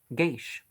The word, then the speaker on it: geis: demeans irish dictionary explains the word guys pronounced geish plural geisha yeah wouldn't have guessed well